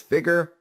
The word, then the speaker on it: FIGR: FIGR, phonetically sounding as Figure.